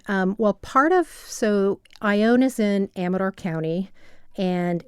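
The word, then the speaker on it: Ione: a really small town called ion it's spelled IO n e it's east of Sacramento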